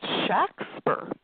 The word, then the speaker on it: Shakespeare: authors name but actually it was pronounced Shack spur it if you look at the record documentary records of the times they would spell things phonetically and it was usually SH ax pers a JC k SPER something like that where it's a short a Shack not never it was